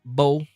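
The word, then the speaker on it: Mbow: So, I told you guys I wanted Mim I wanted Mimbo or Bo, the M is silent. Um, I'm going to keep saying Mimbo because it just stuck in my head.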